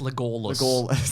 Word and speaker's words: Legolas: It's pronounced Legolas.